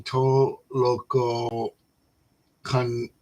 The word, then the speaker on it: Tolokonnikova: Tolokonnikova.